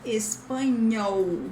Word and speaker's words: espanhol: Remember that in the end of syllables, this L has the sound of U, so espanhol. And this NH has the same sound of the N with tilde in Spanish.